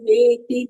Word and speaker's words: वेत्ति: Evam yo vetti tattvatah Okay, give me this one again. Vetti. Vetti, right? Yeah. So, I should hear when you're pronouncing, I should be able to hear the ta two times.